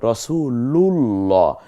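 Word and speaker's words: رسول الله: তাসদিদ হলো মিলিয়ে পড়ার রাসূলুল্লাহ তাহলে এই যে রাসূলুল্লাহ বলতেছি এই লা না বলে রাসুলুল্লাহ বলছি না রাসুলুল্লাহ লা এই আল্লাহকে পাতলা উচ্চারণ না করে গাম্ভীর্যের সাথে মানে মোটা করে পড়ছি এটার কারণ কি আল্লাহ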